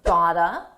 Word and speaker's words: got to: Got to is pronounced gotta. I gotta.